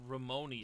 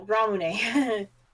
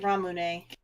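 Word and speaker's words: ラムネ: a variety of things i thought you said ramoney and i'm like oh no ramune okay i've never heard it pronounced like that i've always heard ramoon no the proper term is actually ramune okay at least that's how i've heard it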